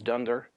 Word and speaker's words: dunder: objects dunder dict attribute we pronounce under-under as dunder if you want to